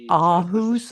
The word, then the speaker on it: Aarhus: Going further, I'll briefly speak about the Danish city of Aarhus, or Aarhus, as it's pronounced in Germany.